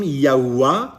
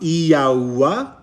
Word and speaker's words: Yahuwah: this was referenced that this is his name, Yahuwah, Yahuwah. The Tetragrammaton, it is pronounced this way.